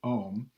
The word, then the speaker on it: ohm: indicate it's long so that tells you to pronounce it ohm his first name was George George Oh although